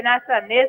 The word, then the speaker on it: Athanaze: You see, when they had put Fletcher as captain instead of Athanaze, I say Athanaze because he said that is how to pronounce it.